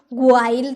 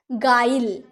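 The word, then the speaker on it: guile: यू का sound आया नहीं ना गु्वाइल तो नहीं बोलेंगे गु्वाइल गाइल गाइडल यानी कि फरेब छल कपट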